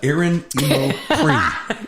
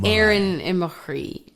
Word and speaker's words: Aaron Imachry: I would never expect anybody to know that, but it's Aaron Imachry.